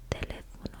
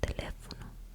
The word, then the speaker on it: teléfono: Same with, it's not teléfono, it's teléfono. I know that might sound similar, but you always put emphasis on the letter with the accent mark.